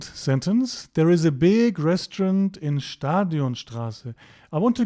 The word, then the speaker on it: Restaurant: Das Restaurant. The pronunciation at the end here is a bit different and untypical of German. That's because it's a French word and we've sort of kept the French pronunciation here.